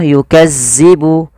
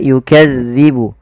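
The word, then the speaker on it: يُكَذِّبُ: Hati-hati teman-teman di lafal melafalkan huruf zal. Zal ini tidak boleh dibaca atau tidak boleh diganti dengan huruf zai. Contoh yukazzibu tidak, tapi dia yukadzibu.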